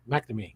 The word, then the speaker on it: McNamee: I fail every time is it McNamee McNamee McNamee yes ok it's cuz there's that a at the beginning that I always mess it up Marcia stats from ASCO